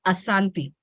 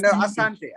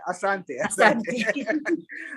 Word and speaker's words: Asante: Asanti. No, Asante. Asante.